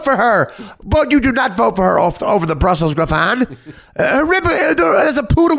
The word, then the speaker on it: Griffon: He pronounced it Griffin. It's Griffon. His own dog.